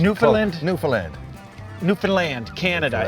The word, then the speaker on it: Newfoundland: to the program Mike D here we're in Newland right that's how you say it awesome pronunciation newand newand newand Canada it's spelled New Foundland but